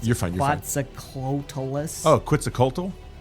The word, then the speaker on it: Quetzalcoatlus: And with a flap of my wings, it's called I can't pronounce it. You're fine, you're fine. Quetzalcoatlus.